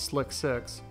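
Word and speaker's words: SLC-6: specifically High inclination launches space launch complex 6 slc6 pronounced as slick 6 was extensively modified to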